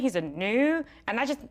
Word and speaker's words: gnu: So I'm gonna put my ghost on top of the G and let's read it. - (sounding out phonetically) N-U, Gnu!